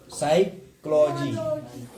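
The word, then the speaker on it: psychology: तो pneumonia, P एस है तो पी को नहीं पढ़ना है। साइक्लोजी, साइक्लोजी, तो यानी कि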